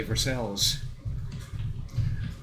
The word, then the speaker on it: Versailles: It's spelled like Versailles, but they say Verscel's the same reason we say Paris instead of Perry.